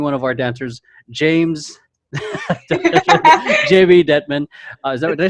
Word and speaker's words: Dettman: today we're featuring one of our dancers, Jamey Dettman. Did I say that right? I feel like I've never said your last name before. No, you said it right. Okay, Dettman.